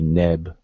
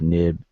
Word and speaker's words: neb: pronounce the words, and it's generally sticking an E, the E vowel in between the different consonants. So this particular word would be neb and not noob, nib.